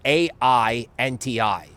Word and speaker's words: AINTI: for the crypto is AI NTI right phonetically it's Ain I ain't I wonderful okay the antivirus